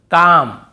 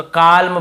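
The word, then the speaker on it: calm: जैसे काम बाम पाम और यहां पे आमंड बहुत से लोग आलमंड ऐसे बोल देते हैं। बहुत से कालम बालम पालम नहीं होगा।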